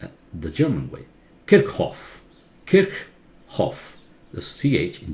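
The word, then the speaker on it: Kirchhoff: one it was a German scientist physicist it's pronounced at the German way kick off kick off the CH in German is not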